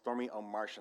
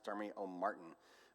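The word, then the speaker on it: Stormie Omartian: And her name is Stormy O'Martian. I keep hearing it pronounced Stormy O'Martin, but it has an extra I, so it's Stormy, it has an A, so it's Stormy O'Martian.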